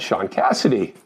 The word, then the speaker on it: Shaun Cassidy: Carolyn and Michelle and Sean Cassidy, which is not one word, but they say it like one word.